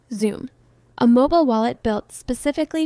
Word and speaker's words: Xumm: For XRP, one of the most popular is Xumm, pronounced Xumm, a mobile wallet built specifically for XRP Ledger.